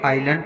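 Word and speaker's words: island: For example आइलैंड, यहाँ पर आई और एल के बीच में एस आया है तो यहाँ पर हम एस का उच्चारण नहीं करेंगे, इसको आइलैंड पढ़ेंगे।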